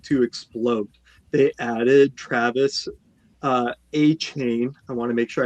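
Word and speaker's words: Etienne: Making sure we're pronouncing people's last names the way that they're supposed to. Not ETN, we're talking about A-Chain.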